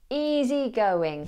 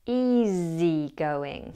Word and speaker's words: easygoing: Now, the S in easy is pronounced as a Z. So don't pronounce it as easygoing, but as easygoing.